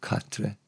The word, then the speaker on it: cartref: Or catre. Don't pronounce the F.